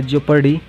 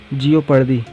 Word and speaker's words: jeopardy: तो देखिए गाइस, ये जो वर्ड लिखा है जेपर्डी, इसका प्रोनाउंसिएशन है, देखिए इसको बोलने में कैसा लग रहा है, जेपर्डी। ठीक है, ऐसा लग रहा है जियोपर्डी।